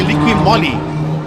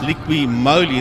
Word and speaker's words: Liqui Moly: sponsored by if you always used to say liquid Molly but I was led to believe that it's actually pronounced liqui moly then aren't two L's there and that's our